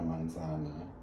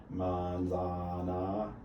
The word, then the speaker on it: manzana: the word and so instead you don't just say monsant you say manzana the stress goes on manzana that's the second to last syllable normally that's the normal